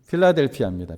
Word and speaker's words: 필라델피아: 저는 우리 교회가 더욱더이 빌라델비아와 같은 그러한 칭찬을 받기를 원합니다.이 빌라델비아 어 빌라델비아가 우리가 오늘날 말하는 발음으로 하면 어디니까? 필라델피아입니다.